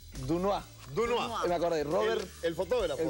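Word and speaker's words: Doisneau: Se escribe Dois Neau. O sea, es Dunois.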